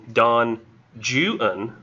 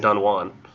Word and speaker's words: Don Juan: it says in parentheses pronounced in the English fashion dawn julen like literally pronouncing it like that like instead of saying Don Juan which is really annoying